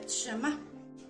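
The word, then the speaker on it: שמע: palabra escuchar la palabra oír viene del hebreo shema así se pronuncia shema y significa escuchar pero a la vez significa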